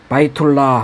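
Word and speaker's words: بيت الله: 집 하우스 바이툴라 하면 알라의 집이죠.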